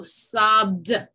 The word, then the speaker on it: sobbed: Everything else that is voiced gets a D sound at the end. Sob, sob, right? There's a vibration. So sobbed.